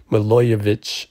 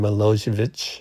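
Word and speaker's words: Milojević: I checked around on Google, and I'm pretty sure Milojevic is how you pronounce it.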